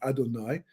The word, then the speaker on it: Adonai: Well, it turns out that if you take the name Yud Kei Vav Kei, well, actually Aleph Daled Nun Yud, which we pronounce as Adonai, right?